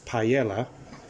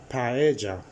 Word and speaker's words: paella: to say page paella the elves double L's you pronounce them as a j so don't call it paella call it paella I think I'm Gonna